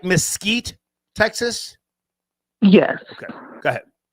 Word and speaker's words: Mesquite: Did I pronounce that right? Mesquite, Texas?